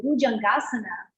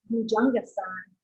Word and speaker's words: Bhujangasana: So Bhujangasana would be the Sanskrit pronunciation for it, but Bhujangasana would more be Hindi. They drop the short A. If it has a long A at the end of it, then it would have